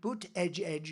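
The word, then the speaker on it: Buttigieg: our airports and the it's a disaster and boot Edge Edge you know boot Edge Edge you know years ago I said how do you pronounce that damn name and they said boot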